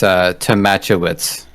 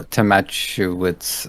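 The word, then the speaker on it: Tomaszkiewicz: I think the S is the K. I think that's pronounced like a ch. So I think it's Tomachowicz. Okay, we'll go with that.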